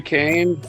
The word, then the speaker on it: Kane: His name was Harry Kane? Okay. Harry Kane. Rhymes with Spain.